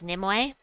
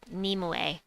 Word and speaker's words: Nimue: but death knight right this troop i've always pronounced as nimwei because that at japanese wise it would be nimue which kind of sounds like nimoy anyway but